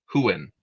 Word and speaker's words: Huan: I don't know how you pronounce Juan Huen Huan. Huan of Valinor.